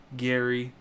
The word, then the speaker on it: Gary: There's Gary, spelled like Jerry, but Gary, our Golden Bachelor coming.